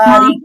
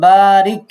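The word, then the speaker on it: بَارِكْ: على বারিক না, محمد বারিক, বারিক না, বারিক, বাতে মাদ আছে। اللهم بارك বারিক হয়নি, بارك বাতে আলিফ আছে দেখেন, বারিক।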